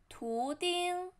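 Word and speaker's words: 图钉: 针 and then thumbtack 图钉图钉图钉图 second tone 钉 flatten 图钉图钉图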